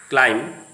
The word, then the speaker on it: climb: The words are coming to the screen: bum, thumb, limb, tum, climb, climber, plumber. Don't say thumb. The B sound remains silent.